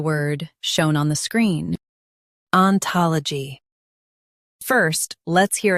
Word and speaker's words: ontology: Stress ta in US and tol in UK. Keep l light.